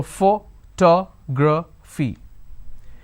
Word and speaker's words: photography: it's photography for so how many vowel sounds do i have one two three and four so fo ta gra fee please remember this is where most of us make mistakes val sounds are equivalent to number of syllables so we have one two three four we have one two